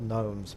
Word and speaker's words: gnomes: It's interesting how they called gnomes, but there's no G in there's no it's spelled without a G.